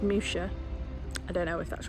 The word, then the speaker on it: Muxia: Or another place called, that's spelt Muxia, M-U-X-I-A, but I'm told is pronounced Musha.